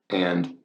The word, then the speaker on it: e: This means in Italy, where Genoa is located, E, or you'd pronounce it A, means and in Italian.